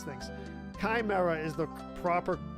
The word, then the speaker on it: chimera: up right which I think it's Chimera Chimera Kimera oh man I wish I knew how to pronounce things Chimera is the proper pronunciation right um all right